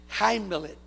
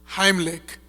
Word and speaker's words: Heimlich: Pero los gringos que están aquí, ¿cómo es? Heimlet. Venga a decirlo aquí, por favor, hermano. Venga la onda. Oigan, ¿cómo se dice, hermano? Heimlich.